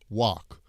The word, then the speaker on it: walk: when you practice this I like to teach the California pronunciation of walk walk walk ah it's like an ah sound they say in California I walk I'm walking